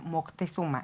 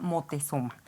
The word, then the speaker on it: Motezuma: llama ópera motezuma y no lo estamos pronunciando mal Lo que pasa es que los europeos no pueden decir Moctezuma Entonces se llama motezuma Hola doctora Elizabeth Gracias